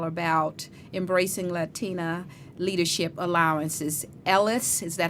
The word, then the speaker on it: ELLAS: foundation is all about embracing Latina leadership allowances Ellis is that how you pronounce it yes a yes A yes okay